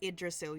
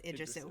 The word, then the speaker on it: Yggdrasil: Okay, so first of all, it's Yggdrasil. You don't pronounce the G's. It's Yggdrasil. Yggdrasil.